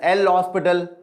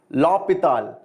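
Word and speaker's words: L'Hôpital: will have a blast of a time it is spelled as lopital exactly but indians sometimes we call it as l hospital so i am not very concerned about it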